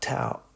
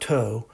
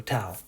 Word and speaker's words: tau: called tau t-a-u okay so we say it like ow i don't know how so almost like but not tau not not toe but um tau so